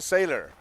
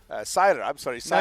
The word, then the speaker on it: Sailer: us, we have Christian Seiler. Seiler. No, you're totally good. One of these days, I'll get that right. It's spelled one way, pronounced the other.